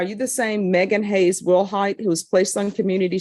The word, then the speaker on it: Willhite: And are you Megan Willilhight? Yes, ma'am. Am I pronouncing your last name correctly? Yes, ma'am. Will height?